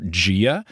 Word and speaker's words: Gaia: And I always imagine her like Gia, like an Italian lady. Yeah. But what people informed me was that it's Gia, probably more like Pangaea.